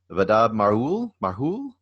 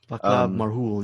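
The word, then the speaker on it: Václav Marhoul: It's by director, I don't know how to say his name, Vadab Marhoul? Vaclav Marhoul, yeah.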